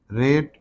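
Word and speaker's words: write: रेट, डब्ल्यू इसमें silent है।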